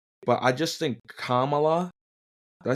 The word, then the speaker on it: Kamala: I always I've always said Kamala like because that's how you spell it. I mean K A M A L A.